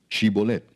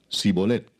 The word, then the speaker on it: Shibolet: Si él respondía, "No, entonces le decían, "Ahora pues di Shibolet." Y él decía, "Sibolet, porque no podía pronunciarlo correctamente."